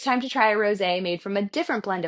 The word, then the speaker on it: rosé: Next up, we're moving on to rosé, and although this style might be spelled like a rose, we're actually pairing it with one of my favorite flowers, a pink Gerbera daisy.